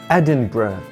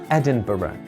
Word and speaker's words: Edinburgh: planets we live on is called the earth Edinburgh or Edinburgh Edinburgh is the capital of one of the